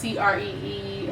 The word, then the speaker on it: Qri: It's spelled Qri, pronounced Cree.